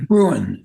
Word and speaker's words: Bruen: Is that, you pronounce that Bruen or Bruen or? Bruen.